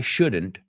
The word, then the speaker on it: shouldn't: So, fijaos, la L no lo he pronunciado. I didn't say should. Why shouldn't? Shouldn't.